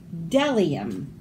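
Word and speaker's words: bdellium: B is for delium. We doubt anyone knows what delium is, but it's the only word dumb enough to begin with a silent B.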